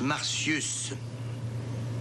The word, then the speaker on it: Martius: On prononce Martius.